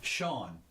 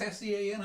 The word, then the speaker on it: Sean: Sean is one. Now S-E-A-N. Yeah, you don't get Sean here for that. You get Scene. No, you get Sean.